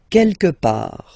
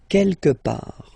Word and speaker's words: quelque part: Quelque part. Don't pronounce the final T. Quelque part.